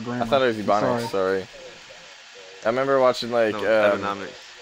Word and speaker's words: Ebonics: Ebonomics, whatever it's called. Oh, Ebonics.